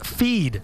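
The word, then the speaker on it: Pheed: Here's a look at what could be the next big thing, a new social network called Feed. That's spelled P-H-E-E-D. Right now, it's a website and app for Apple devices.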